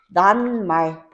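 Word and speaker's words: 낱말: 그럼 발음이 어떻게 돼요? 난말.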